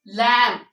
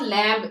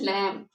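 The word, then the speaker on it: lamb: इसको गलत नहीं करना, इसमें बी को साइलेंट रखना है। For example it इज लैम्ब, इट इज नॉट लैम्ब, इट इज लैम्ब।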